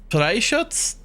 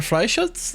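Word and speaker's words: Freischütz: It's like Freischutz? There are Freischutz, I think. I was explicitly told that I pronounce the R like it's in the back of my throat.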